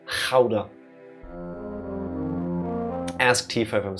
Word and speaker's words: Gouda: When speaking Dutch and you see a G, basically just pretend you try to get phlegm out of your throat. Gouda. Not Gouda, not Gouda, Gouda.